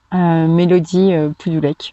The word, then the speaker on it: Mélody Poudoulec: Facebook, Mélodie Pudulek. Voilà, comme ça s'écrit et ça se prononce.